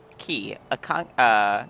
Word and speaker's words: quay: I think it's Key. Thanks, Final Fantasy. How do you pronounce... Key. Yep, it is Key.